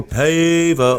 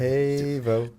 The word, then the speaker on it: Pavao: Now, right away, first question: did I pronounce your last name correctly? No. All right. It was close. Close. Is it the way they yell for Pavao? How do you say? You just did it.